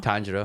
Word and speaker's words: Tanjiro: Tanjiro. Not Tanjiro? Tanjiro. Like a tangerine. Tanjiro.